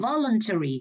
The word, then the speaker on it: voluntary: Volunteer nhấn âm 3, voluntary nhấn âm 1, voluntarily âm 1 luôn.